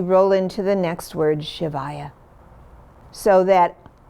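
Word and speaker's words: शिवाय: the land of liberation so it's not shivaya like it's a female it's shivaya and the ship is also short like in ship and then the va va is longer so there's a rhythm to it short long short shivaya the v in shavaya is not a hard v it's almost like a w it's kind of in between a v and a w like you get in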